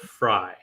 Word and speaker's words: Frey: So it's numbered 617, and it is signed by M. Frey or Fry. It's Frey. So depends on how you say it.